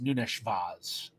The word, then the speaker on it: Nunes Vaz: And a lot of the family say the proper way to pronounce it is Nunes Vaz. Nunes Vaz. So, but like, it's, I can't do the lisp with it.